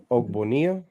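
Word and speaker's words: Ogbonnia: Um is that how you pronounce his last name? I if I had to guess is Oak Bonia.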